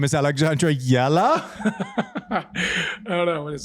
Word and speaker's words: Alexandra Eala: Alessandra Yella. I think that's pretty close. Pretty You good. ready? You ready? My name is Alexandra Eala. Alexandra Eala.